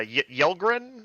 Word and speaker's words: Yelgrin: perfectly cast I think is a vorta uh yelgrin is that how you say it yes yeah